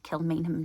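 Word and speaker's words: Kilmainham: and to know whether or not you can pronounce it so I cautiously attempted to say kill mham jail and he said oh my goodness You'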